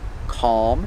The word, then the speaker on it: calm: it Palm so with words like calm and almond these words have Alm but the L is silent or you don't hear it like I said the tongue